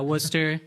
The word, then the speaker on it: Worcester: Yeah, Worcester. It's like spelled like Worcester.